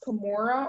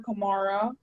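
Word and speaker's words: camorra: The word can be pronounced Kimura or Kimara.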